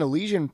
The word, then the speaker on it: Elysian: It rhymes with Felician.